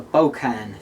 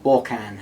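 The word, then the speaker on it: Bork'an: So over on the right hand side we have my other detachment, which is a Bokan detachment, or Borkan, however you want to pronounce it.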